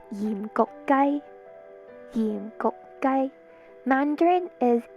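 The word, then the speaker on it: 鹽焗雞: In Cantonese, it's pronounced yim gok gai.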